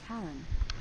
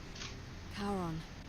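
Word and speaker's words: Charon: it's just as you described it only your pronunciation is a little off the name you you heard wasn't Karen it was C h r o n as in the fman of the Dead karon who in exchange for the right coin helps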